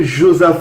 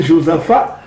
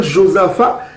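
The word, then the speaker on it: Josaphat: vallée de Joseph à comment on va prononcer Josepha ce n'est pas Joseph on va prononcer il y a aussi fa la vallée de Yao Sifa donc ça veut dire qu'il y a aussi fa y a aussi faux au lieu de dire josapha c'est Yaro Sifa il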